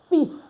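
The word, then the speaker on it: fils: So normally we don't pronounce letter S at the end of our French word. But this is an exception. You say a fist meaning a son.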